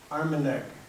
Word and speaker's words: Armenag: And she always pronounced his name Armenag, with a neg on the end.